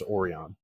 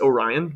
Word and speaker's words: Orion: before but no it's it's Orion with like the constellation yeah okay so today